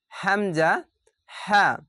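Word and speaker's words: همزة: এক নাম্বার মাখরাজ হামজা হা এটি কোথা থেকে উচ্চারণ হবে? হালাকের বা কন্ঠনালীর শুরু হতে উচ্চারিত হয়। কন্ঠনালী বা হালাকের কন্ঠনালী এখানে কোথায় বুঝাচ্ছে? এতটুকু জায়গার মধ্যে এই উপর স্থলকেই বুঝাচ্ছে। এখানে এটি এরকমভাবে উচ্চারণ হবে।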